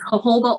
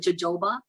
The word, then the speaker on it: jojoba: to say it but people say it wrong it's jojoba oil but they call it jojoba it's jojoba oil